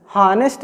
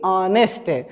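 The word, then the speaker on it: honest: यहाँ पर यस तो आया है लेकिन यहाँ पर इसका उच्चारण हम क्या करेंगे, हानेस्ट नहीं बल्कि ऑनेस्ट।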